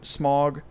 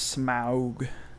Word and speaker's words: Smaug: And then the taking, the confrontation with I can't remember the Smog, which in the cartoon is Smog instead of Smaug, which got on my nerves all to hell.